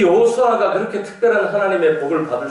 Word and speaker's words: 여호수아: 영어권의 사람들은 이게 발음을 할 줄 몰라서 그래요. 여호수아가 맞거든요. 근데 영어 사람들은 여호수아를 발음을 못하니까 뭐라고 해요? 조슈아라고 해요. 이게 틀린 발음이죠.